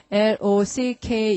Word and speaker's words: lock: 자, 여러분 칠판 보시고 L-O-C-K 이러는데 발음 어떻게 한다? lock.